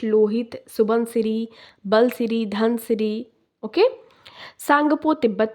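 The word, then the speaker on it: Tsangpo: Okay, T silent है, सांगपो river.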